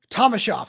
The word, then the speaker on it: Thomashoff: to figure it out but Roman is it Thomas Hoff or thomasa Thomas shof there you go got it second time okay